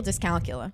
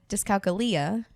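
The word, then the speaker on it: dyscalculia: this thing called which I've been mispronouncing for years what I call Disc calcula sounds right to me then my doctor said discala sounds a little Latin yeah and it's like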